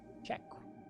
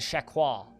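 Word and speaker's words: cheque: Just like the Canadian spelling of check. Check. I've seen some people try and pronounce it chequois. Which is like, what? No, it's just check, you weirdo.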